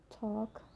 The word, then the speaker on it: talk: So the letter L can be silent too. It's quite common when you look to example, like could, should, talk, walk, york, half, calf, salmon.